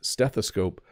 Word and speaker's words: stethoscope: to spell it because if you listen steth a scope it almost sounds like it has the letter a in it but it doesn't it's stethoscope but it is an O So a stethoscope something